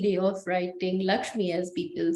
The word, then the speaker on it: LXME: Yeah, we write it as LXME, but it's pronounced Lakshmi, and it's a very Gen Z way of writing Lakshmi, as people say.